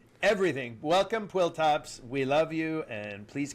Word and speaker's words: PWLTOPS: Quill top.